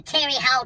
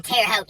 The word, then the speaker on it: Terre Haute: all the way to terry hall to indiana and yeah i said terry holt wrong i said it wrong on purpose look it up look up things to do in terre haute indiana number one thing